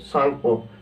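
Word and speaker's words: Tsangpo: है IT Indus सांगपो सांगपो य पर टी साइलेंट है ना सांगपो इ इंडस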